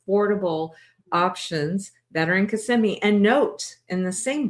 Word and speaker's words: Kissimmee: Honey, do you think it's called Kissm or Casemi? I wish it was Kiss. However, the real pronunciation is CMI.